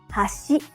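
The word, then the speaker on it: 橋: it means Chopsticks but if you say hash it means Bridge let's hear the difference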